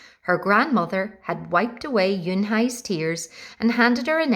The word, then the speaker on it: Unhei: "Une?" the girl asked, scrunching up her face. Une," some kids chanted. No, Yun Hai corrected. It's spelled Unhei. It's pronounced Yun Hai.